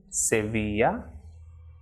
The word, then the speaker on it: Sevilla: Double L is Elie, so as in Sevilla, lluvia, rollo.